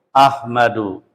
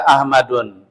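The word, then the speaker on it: أحمدُ: Ahmadu. Ahmadu. Ahmada. Ahmada. Nah, ini Muhammadun dia pakai tanwin sret tanwin. Ahmad dia tidak pakai tanwin bacanya ahmadu gitu dia boleh enggak dibaca ahmadun? Enggak boleh. Emang dari sunah begitu tuh ya.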